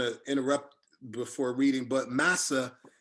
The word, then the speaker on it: massa: Two notes, I didn't want to interrupt before reading, but massa, people always think that that's a mispronounced English word, the English word master.